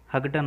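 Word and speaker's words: Houghton: खाया, अल्सर हुआ और हगडन हो गया, ठीक है। इसकी स्पेलिंग आप देखोगे तो ये आपको हगडन पढ़ने में आएगा, HOUGH TON, हगडन।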